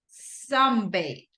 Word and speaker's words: sunbathe: Sunbathe.